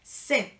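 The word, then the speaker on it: cette: femenino singular vamos a usar set con doble t y una e al final cetes escribe set se pronuncia y este va a ser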